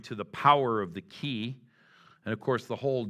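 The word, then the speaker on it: qi: But most of those Eastern thought systems rely on something that the Chinese call the power of the ki. And the way you spell that is Q-I.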